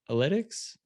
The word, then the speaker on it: Inlytics: all right i'm here with tim from analytics i pronounced that correctly yeah absolutely that's perfect we